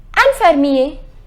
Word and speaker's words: infirmier: Infirmier. The pronunciation is infirmier.